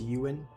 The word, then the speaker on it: Ewan: It's not pronounced as. It's Ewan. Okay.